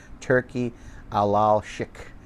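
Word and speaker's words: Turki Alalshikh: Turkey Alalshik, that's how you say it.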